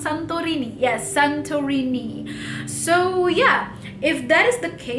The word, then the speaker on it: Santorini: Wait, is that how you pronounce Santorini? Yes, Santorini.